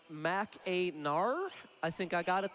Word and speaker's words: Mackinac: Mackinac is actually pronounced Mac-a-nar.